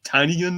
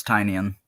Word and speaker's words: Tynion: Yeah, I think it's Tynion. Tynion? Okay, because I've heard it said Tiny Onion is how you're supposed to say Yeah, his name.